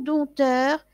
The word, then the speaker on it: dompteur: Dompteur, dompteur, vous voyez, je ne prononce pas le P, un dompteur, Il va élever, par exemple, des animaux sauvages et il va les faire jouer dans des cirques.